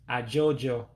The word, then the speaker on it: ajụjụ: To ask a question, the word for question is ajụjụ.